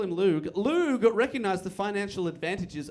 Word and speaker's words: Loog: Loog. Loog.